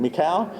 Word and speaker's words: Michal: Michal, M-I-C-H-A-L.